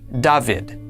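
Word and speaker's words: דוד: This word is pronounced Davidid.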